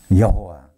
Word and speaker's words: 여호와: 여호와. 물론 이 발음을 야훼라고도 하고 여호와라고도 하는데요.